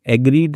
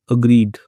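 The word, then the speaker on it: agreed: एग्रीड नहीं पढ़ते। अग्री अग्रीड तो वह मान गया बाद में कि ठीक है चलो राजा के पास चलते हैं।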